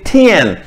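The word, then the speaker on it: 天: ये देखें, ये टी आई ए एन है, ये टी की आवाज को कैसे प्रोनाउंस किया जाता है, थ से। तो टी आई ए एन हम कैसे प्रोनाउंस करेंगे, हम प्रोनाउंस करेंगे थियन।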